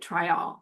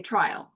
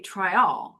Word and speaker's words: Tryall: that you pronounced it Tryall, because that's how the Jamaicans pronounce it. In the in the way the locals explained it to me, they said, "Americans say Tryall." But, locally, they say Tryall.